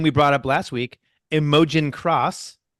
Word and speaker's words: Imogen: Second place, a name we brought up last week, Imogen Cross. Imogen.